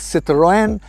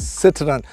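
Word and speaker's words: Citroën: the Citroen brand yes citone as pronounced by the French it's also pronounced as Citroen and it's also pronounced as Citroen now it's up to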